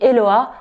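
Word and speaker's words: Hehoa: Si tu ne me connais pas, moi je suis Eloa. Ça s'écrit H-E-H-O-A avec deux H et oui, ça se prononce avec un L qui ne s'écrit pas.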